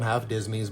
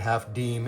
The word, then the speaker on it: half disme: cent pieces that had the word deem which looks like it's spelled dism and a lot of people call them half dism. But I again I'm told with authority that half deem is the correct pronunciation.